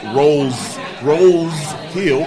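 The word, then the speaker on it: Roe's Hill: It's called Rose Hill because the city clerk made an accident in the paperwork, and rose spelled like a flower rose. Okay, when really it's Rose Hill, ROE apostrophe S Hill, because that was for the farmland.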